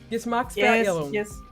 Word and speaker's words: Geschmacksverirrung: Yeah, Geschmacks was right, and then Verirrung. Verirrung. Geschmacksverirrung.